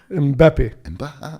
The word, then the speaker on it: Mbappé: - Mbappé. - See? Say it like that. - As if you're French.